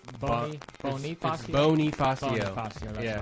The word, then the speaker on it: Bonifacio: Bonifacio. Bonifacio, that's right. I know there was like some sort of pronunciation change because that's how his family, wanted.